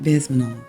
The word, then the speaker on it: Bezmenov: You know, Yuri Bezmenov, I believe I'm saying his name incorrectly. I'm going to get it right. No, I said it right, Bezmenov.